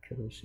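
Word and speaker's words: Kūruš: 이제 보면 1절에 고레스가 나오는데 고레스는 영어는 그냥 사이러스라는데 발음이 큐르스입니다. 큐르스 2세인데 유명한 왕입니다.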